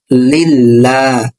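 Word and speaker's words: لِلَّهِ: কিন্তু যেহেতু এখানে আল্লাহ শব্দের লামের পূর্বে জের আছে, এই জন্য এই লামটা বারিক বা পাতলা হবে, উচ্চারণটা হবে লা। যেমন লাম লাম সে লিল, লাম খাস লা, লিল্লাহ।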